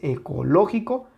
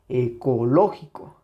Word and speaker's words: ecológico: en su sílaba tónica entonces ecológico lleva acento aquí ecológico no es lo mismo ecológico que ecológico ecológico ecológico ecológico ecológico ecológico si notan la diferencia estoy haciendo esto propósito para que noten la diferencia de cuando está presente la sílaba tónica y cuando no y bueno recuerden esto